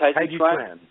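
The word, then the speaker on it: Taijiquan: Taiji Chuan is the Chinese pronunciation of Tai Chi, what we more familiarly know in the U.S. as Tai Chi.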